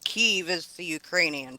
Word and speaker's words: Kyiv: So it's, Kiev is the Russian pronunciation. Kiev is the Ukrainian pronunciation.